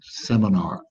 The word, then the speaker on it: seminar: good so it's just seminar seminar roll the r at the end seminar okay so julie there